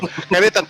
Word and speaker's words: Careta: It's Careta, right? Yes. Careta Radio. Yeah, I just want to say if the pronunciation was correct. So, Careta, thank you very much for having us.